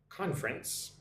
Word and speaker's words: conference: Conference. Two syllables. Conference. Conference. Like conference. It's a little bit strange with the N sound followed by the S sound.